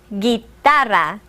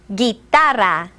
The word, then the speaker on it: guitarra: La guitarra. Repeat after me. La guitarra. Notice that the G is pronounced differently in the words el gitano and la guitarra.